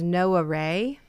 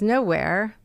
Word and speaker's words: Gnoware: The locals will pronounce it as no array, but I wanted to twist it so that it could be read as nowhere because basically there's a